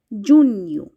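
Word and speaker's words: junho: হয়ে থাকে মাই মাই জুন কে বলা হয়ে থাকে জুন ইউ জুন ইউ July K Portuguese ভাষায়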